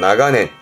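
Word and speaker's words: 長年: 근데 뒷글자가 년자는 발음이 냉가스, 답은 4번 나가넨.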